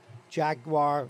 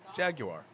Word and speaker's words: Jaguar: we say here at jaguar land rover new show the proper way which is jaguar jaguar did i say it